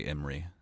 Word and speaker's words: Imre: Mackenzie says the audiobooks say Imre.